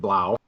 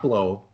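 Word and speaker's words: Blough: Thanksgiving Detroit is extra David Blau not below Wow I looked up his name to make sure we pronounced it right so all you uh-oh you blow fans it's Blau so he's expected to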